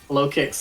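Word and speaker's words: Lokix: Is it pronounced low kicks? Low kicks like Locust.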